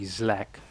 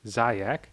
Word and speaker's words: Zlak: So his name is actually Zlak. Zlak. Possible. Would be a good one to trick casters. You sign up for a tournament, everyone pronounces your name as Zayak, they complain to the organization that is pronounced Zlak, because it's actually a non-capital L, you get all the casters fired.